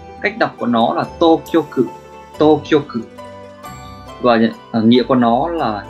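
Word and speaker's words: 当局: Cách đọc của nó là Tokyoku.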